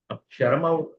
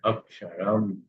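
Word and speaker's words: अक्षरम्: कारण म पूर्ण हुआ उसका उच्चारण अक्षरम ऐसा ऐसा नहीं कहना है। अक्षरम पूर्णता से उसका उच्चारण करना है।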